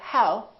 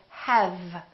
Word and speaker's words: have: say hmm have have the common mistake is that some people don't use the lower lip and they round their lips instead and they say how instead of have have the other mistake